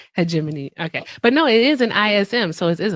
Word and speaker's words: hegemony: Homogenism.